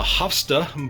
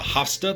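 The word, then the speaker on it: Havsta: Is a display cabinet called a Hofsta by IKEA.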